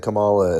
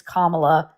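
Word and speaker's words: Kamala: You represent Camala as well as you do.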